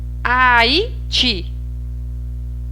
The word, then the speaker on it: Haiti: Aiti. Aiti é o ti. Abacaxi é o xi. Depois, a sílaba tônica, ela terminada em E.